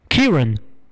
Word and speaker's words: Kieran: For future reference, my name is pronounced like Kira. Key as in the thing that unlocks doors. Kieran.